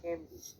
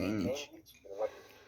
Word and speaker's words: Heimlich: Vamos a ver en este video la maniobra de Heimlich. De Heinlein. Yo dije Heinrich.